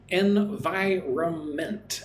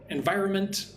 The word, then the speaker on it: environment: When I say it environment, it's more like it has four syllables, right? And I kind of ignore the N. Right? When I say environment, I'm not really pronouncing the N, right?